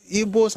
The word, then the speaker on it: Igbo: I can never call Igbo IGBO because even they don't pronounce Igbo. There's no B in their own orthography. Linguistic. Their own is aggressive. It sounds like bo.